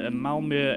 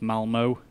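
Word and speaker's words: Malmö: you can see there that is apparently how you pronounce it or although i could be butchering that i realize in english that just reads as malmo um but uh with the um light on the end there i believe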